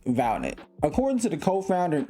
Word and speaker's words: Valnet: They were sold off to a group called Valet, which to me rhymes with Skynet.